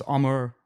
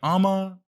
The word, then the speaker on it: Amar: yeah um but yeah so it's armor but the r is i don't even think i pronounce it all when i say my name i feel like i always just kind of do a lazy like ammo and and i just